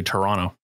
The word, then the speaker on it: Toronto: you roz that's like when i say toronto yeah and then the second t is silent otherwise they they hurt